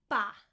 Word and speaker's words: paella: How do you pronounce this word? Pa-e-ya.